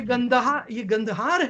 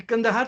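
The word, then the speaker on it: Kandahar: ये गंदहार है, ये कंदहार तो मिस प्रोनाउंसिएशन है।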